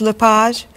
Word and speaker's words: LePage: Is your last name pronounced LePage? It's Lepage, actually.